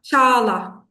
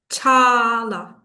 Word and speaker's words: Çağla: Chala. Chala. Chala. So the G is not pronounced. It's silent.